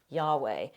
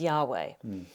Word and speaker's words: Yahweh: His name is Yahweh. By the way, this is sometimes transliterated as Jehovah. Frank used that term a minute ago. It's highly likely that it was originally pronounced Yahweh.